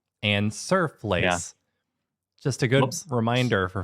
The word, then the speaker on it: stoofvlees: find it at a restaurant in stoofvlees or stooflees, which is a horse meat stew.